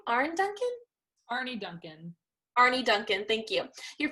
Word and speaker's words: Arne Duncan: How do you pronounce her name? Arne Duncan? Arne Duncan.